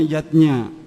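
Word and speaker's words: yajña: lima macam selamatan zatnya tulisannya yajna Ayah Bunda tapi membacanya yatnya yang pertama adalah dewayatnya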